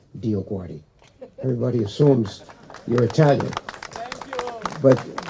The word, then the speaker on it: DioGuardi: And I had to go up to them to say, no, learn how to pronounce this name, because you are praying when you say Dio Guardi, and you don't even know it.